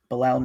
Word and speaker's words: Bilal: was the first name I'm sorry Bilal b-i-o-l-a-loud belal Nichols he was signed last off-season um one